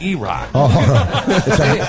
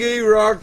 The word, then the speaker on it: E-Rock: What the fuck is a fat E-Rock? It rhymes with cock.